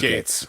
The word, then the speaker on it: Gaetz: Department of Justice is investigating the Republican Congressman Matt Gaetz of Yep, Matt Gates.